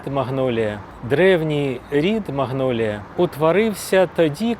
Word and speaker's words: магнолія: вид магнолії, цей вид назвали на честь французького ботаніка Маньоля. І спочатку її так і вимовляли: Маньолія. Але французьку люди не враховують. Звикли до англійської. І тому поступово почали називати не маньолія, а магнолія.